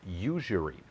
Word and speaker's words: usury: It's not luxury, it's usury.